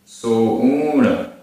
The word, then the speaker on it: सोऊण: सिस्साणम सिस्साणम तम तम सोऊण सोऊण बड़ा ऊ सकर्णे सकर्णे आधारणा पुराणा